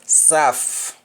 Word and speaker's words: saf: When spoken in Jamaican, you don't pronounce the T at the end. You stop at F.